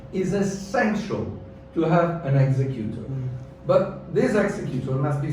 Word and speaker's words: executor: administrator is the executor it's called executor i pronounce it properly executor okay the executor is